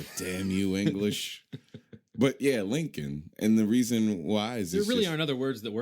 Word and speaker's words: Lincoln: How do we pronounce it Lincoln when that's not how it's spelled? Are we going to get into this now? Damn you English. But yeah, Lincoln.